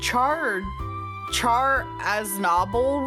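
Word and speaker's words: Char Aznable: So it would be it it would be closer to Char. So Char as noble. We would cuz I'm I'm seeing the pronunciation in Japanese and kind of working back to how that would be in English.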